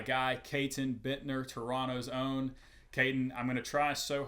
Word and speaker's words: Caton: Katton, I'm going to try so hard to overcome my southern accent and properly pronounce the T's in your name, not Kaitton Bitner.